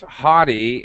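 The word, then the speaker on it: haughty: is good word ah I can't I can't pronounce it prop no no no you did that you are absolutely right it's hottie and I should actually uh well come on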